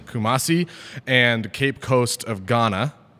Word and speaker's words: Kumasi: in 2004 lived in correct me on this pronouncation restrung lived in Kumasi Kumasi Kumasi and cape coast of Ghana right saying that